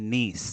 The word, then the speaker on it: Nice: a place called France it's it's niece it's spelled like nice nice nice yeah it's